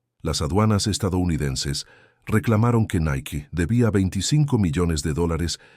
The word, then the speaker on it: Nike: Jeff Johnson sugirió Nike, pronunciado Nike en inglés.